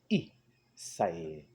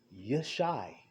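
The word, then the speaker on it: ישי: In the ancient tongue, how do you say Jesse? Isai. Isai. Not Yeshai.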